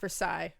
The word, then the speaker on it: Versace: Listen, I am not Britney from And guys, I know it's pronounced Versace, okay?